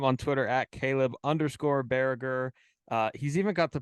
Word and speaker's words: Baragar: know too what is the most like common mispronunciation of your name because it's barrager right it's barracker correct yeah um probably bargar I feel like it's honestly gotten better everybody's